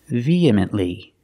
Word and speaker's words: vehemently: charges or vehemently pronunciation vehemently the H is silent we don't say V it's just via you link the e in the air with the e sound vehemently feminly again the